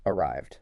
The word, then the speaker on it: arrived: Arrived. Short I, arrived.